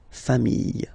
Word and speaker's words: familles: You just add this final S and you get the plural form, les familles, okay? Remember, chien, singular form, chien, same pronunciation, but you put this S, okay? Final S, not pronounced.